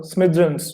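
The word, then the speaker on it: smithereens: अब जैसे देखो, इसका प्रोनाउंसिएशन सीखो, स्मिद्रंस, ठीक है, ध्यान रखना।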